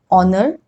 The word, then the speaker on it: honor: Rule number 2, in some words, H is silent, that means it is not pronounced. Which are these words? Hour, honest, honor, air.